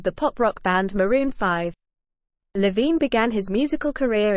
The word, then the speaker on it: V: over 2010 Overexposed 2012 V pronounced 5 2014 red pill Blues